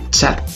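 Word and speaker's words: Tchad: Por ejemplo, en el nombre del país Chad se tendría que poner T-C-H-A-D para que suene Chad.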